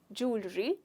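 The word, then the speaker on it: jewellery: करते हैं जैसे कि ये ऐसे दिखता है जूलरी ब एक्चुअली इसकी स्पेलिंग यही होती है दोस्तों बिल्कुल स्पेलिंग में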